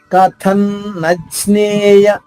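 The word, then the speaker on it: కథన్నజ్ఞేయమ్: కథన్ అనుస్వర ఉచ్చారణ నాగా, పుల్లు నాగా అవుతుంది. కథన్నజ్ఞేయ జ్ఞే, జాకి జ్ఞావత్తు, జ్ఞే.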